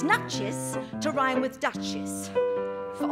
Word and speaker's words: Nuchess: tonight now as you just heard it's actually pronounced nut cheese yes now I'm afraid you've been telling it